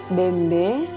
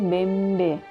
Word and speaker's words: bembe: kangge dalam bahasa Makassar bembe dan dalam tulisan lontaranya hurufba tanda baca yg hurufba tanda baca isinya bacanya bembe meskipun tulisannya BB Nah di sini ada